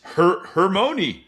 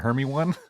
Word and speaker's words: Hermione: Harry Potter movie and they said Hermione and you're like, it's pronounced how? It's Hermione. It's not Hermy one?